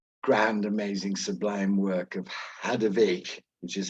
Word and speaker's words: Hadewijch: published of the grand amazing Sublime work of hadovic which is how you pronounce it of Antwerp which is having the